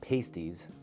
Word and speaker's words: pasties: So, pasties, pronounced pasties, not to be confused with dessert treat, are a great example.